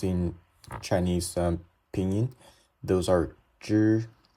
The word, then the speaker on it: zhi: Just for example, the first one, zhi, when you think of how to pronounce the word January, it starts with zh. This is the same. It's also zhi, same as how you pronounce January.